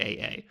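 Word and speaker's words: ʻaʻā: Again, the aha versus the poai uh flows. Exactly. I hope that pronounced that correctly. Aha is pretty easy to get cuz it's just aa but I'm not sure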